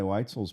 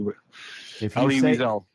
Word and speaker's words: Wiesel: I read Eli Weitzel's book when I was 13, dude. Nice. Elie Wiesel. Wiesel. Yeah, I figured you'd tell me that I was saying his goddamn name wrong.